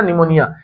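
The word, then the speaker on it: pneumonia: निमोनिया आपने सुना होगा ना, निमोनिया, इसके अंदर आपने स्पेलिंग ध्यान रखनी है, ये निमोनिया, लेकिन इसमें स्टार्टिंग पी से होती है, पी इसके अंदर क्या है, साइलेंट है, तो निमोनिया है।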